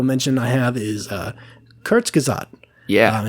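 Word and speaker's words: Kurzgesagt: the second honorable mention I have is uh kurts kazad yeah it's a YouTube channel and I will spell that out for you um it is k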